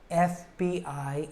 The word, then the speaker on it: FBI: but we say an FBI investigation the reason f starts with a short e sound so that's why we